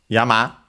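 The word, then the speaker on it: やま: Interestingly enough, it seems that it's actually related to the word yama. This one accented on the second syllable, if I recall. So the last syllable, yes.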